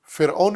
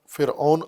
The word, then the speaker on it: فرعون: عربی بنایا گیا ہے، اس کا مصری تلفظ فرعو تھا یا فرعوا تھا، فرعون عربی بنانے کی وجہ سے فرعون ہوا ہے، مصری تلفظ یہ نہیں تھا۔ اس کا مطلب